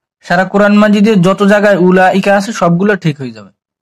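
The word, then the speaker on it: أولئك: উলাইকা, হামজা পেশ উ, লাম জাবর লা, 4 আলিফ, অটা বাদ। অনেক অক্ষর হচ্ছে লেখায় আসে, পড়ায় আসে না। আমরা অটারে উচ্চারণ করব না, পড়বো না।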